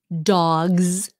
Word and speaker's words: dogs: Dogs, Z, but cats, S.